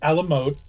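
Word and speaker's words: à la mode: ice cream on it it's pronounced Alam mode it is served Alam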